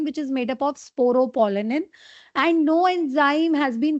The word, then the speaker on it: sporopollenin: Yes, sporopollenin. You have pronounced it absolutely correct.